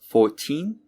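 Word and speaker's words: fourteen: could you hear it for numbers in the teens the second syllable the teen is stressed for multiples of 10 the first syllable is stressed so it's 14 and 40.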